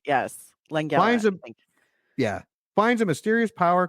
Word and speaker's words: Langella: When the evil Skeletor, Frank Langella, am I pronouncing that right? It feels right. Yes. Langella.